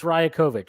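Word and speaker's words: Rajaković: I think it's fair please pronounce the coach's last name correctly or just come Darko I looked it up it's Raya kovich sorry um thank you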